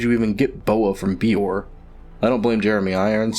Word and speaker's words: Beor: Heck, in the book, though not in this film, Murtaugh has a very strong accent, but even he correctly pronounces it Beor.